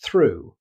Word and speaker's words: through: Next comes through. Although it's spelled similarly, it's pronounced through.